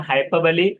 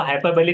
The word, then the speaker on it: hyperbole: metaphor, आयनी, personification, alliteration, हाइपरबली, इसको हाइपरबली कहना है, हाइपर बोल पढ़ते आते हैं बीएड वगैरह में, तो हाइपरबली होता है प्रोनाउंसिएशन, एसोनेस, ओनोमैटोपोइया,